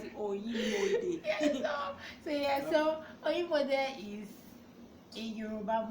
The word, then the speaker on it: Onimode: he has to pronounce it Oyimode.